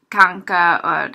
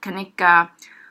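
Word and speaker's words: kan ikke: is can and cannot most people are not going to say can Iike they're gonna put those words together it's going to send more like conca kanika or it's going to be pronounced more like kanesha Kaneesha Ville velika you're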